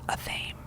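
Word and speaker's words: athame: black handled knives called a thame sparrow says this so it rhymes with whammy she shows me photos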